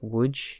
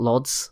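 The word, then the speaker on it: Łódź: to pronounce this city it's wood saying like that not Lots as I was saying but you know I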